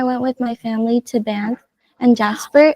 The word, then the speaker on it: Banff: Banff.